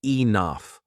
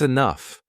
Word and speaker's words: enough: For example, the word enough. We read it like enough or en-oof. But when you hear it in a story, that's enough. Your brain gets it. You hear it, you feel it, and next time you say it right.